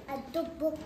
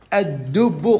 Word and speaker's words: الدب: الدب. الدب. قلنا حكم اللام الشمسية أنها تكتب ولا تنطق، والحرف الثالث يكون مشددا.